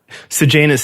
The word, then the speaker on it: Sejanus: We said his name is Sejanus? Sejanus is how they pronounced it in the audiobook, but again.